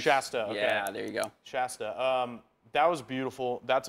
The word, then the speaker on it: Shasta: you know the the the part through Mount Shasta that's how you say it right Mount sh Shasta Shasta Shasta you were you were there the